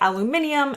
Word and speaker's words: aluminium: If you're really into watching channels like mine, you might already be familiar with the fact that Brits say aluminium and Americans say aluminum.